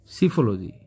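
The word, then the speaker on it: psephology: ई एस ई एच सिफल इसमें P pronounce नहीं होगा सिफल टाइपिंग मिस्टेक है यहां पर वर्ड यहां पर साइकोलॉजी नहीं है सिफल है यहां पर और पी प्रोनाउंस इसमें नहीं होगा सिफल सिस्टमिक स्टडी ऑफ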